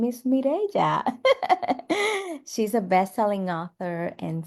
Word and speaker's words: Mirella: Yes, it is pronounced Mireya, but I do go by Mirella as well.